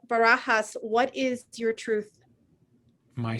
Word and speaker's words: Barajas: Once I said the last name is Barajas. And she goes, I just always figured it was Barajas because it rhymes with courageous.